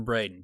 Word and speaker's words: Braden: It is Braden?